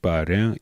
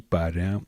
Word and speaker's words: parrain: Donc ici, le R n'est même pas prononcé. Il dit parrain, mais en principe, on dit quand même un R roulé. Il dit parrain, ou bien une sorte de D.